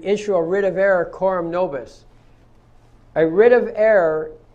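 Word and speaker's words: coram: writ of error quorum novus rit of error quorum spelled c-o-r-a-m and the next word is nobus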